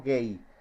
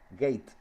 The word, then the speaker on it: gate: En el TBJ se llama base, en el FET se llama gate, no gay, gate, gate se escribe.